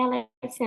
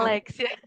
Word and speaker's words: Aléxia: É Alexia, né, que se pronuncia, só para não É, pronunciar errado. Alexia.